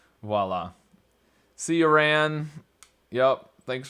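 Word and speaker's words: voilà: I don't pronounce correctly everybody was saying voila voila yep yep oh Viola Viola yeah Viola did no we had the oh we had the O so it had to be voila see you ran yup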